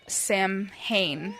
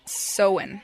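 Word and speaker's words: Samhain: They called it Sam Hayne, Sam Hine, but it's pronounced sewing, not Sam Hine, but everyone says it the wrong way.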